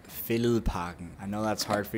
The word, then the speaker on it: Fælledparken: By the way, Zach, it's pronounced Fælledparken.